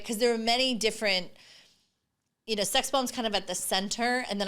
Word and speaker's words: XSXBMB: So it's pronounced sex bomb, but I spelled it XSXBMB.